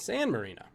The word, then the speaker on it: San Marino: good for them also its name rhymes with a legendary nfl quarterback what's that european country that rhymes with a quarterback it's not johnny canzel turkey's a good guess but of course it's not dan marino it's san marino san marino's a country i wouldn't have known that unless i said it rhymes with dan marino question 10 when your